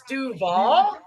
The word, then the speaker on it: Duval: It's Duval.